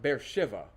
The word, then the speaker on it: Beersheba: it will be called Beersheba. Unto this day, it still is. There is a large modern city built just outside of this picture. They call it Beer Shiva. They pronounce it with a V.